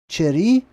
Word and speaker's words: Chiricahua: How do you pronounce that? Chiricahua National Monument in Arizona.